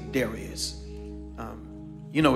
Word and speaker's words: Darius: says it pleased Darius now there are some scholarly theologians who pronounce this daras um but for our colloquial understanding I'm just going to say Darius um you know it's